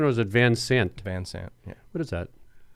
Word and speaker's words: Van Sant: Is that the correct pronunciation, or is it Van Sant? Van Sant.